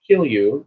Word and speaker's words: Kilju: And, of course, we have other projects that we have been completing, including me getting my, it's spelled Kilju, pronounced Kilju. It is a Finnish recipe, and we racked it today.